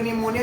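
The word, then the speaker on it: pneumonia: तो इस तरह से हम पी साइलेंट हो रखकर क्या पढ़ेंगे इसको, हम निमोनिया। अगर कुछ लोगों का अगर निमोनिया लिखने के लिए बोल दिया जाए तो आई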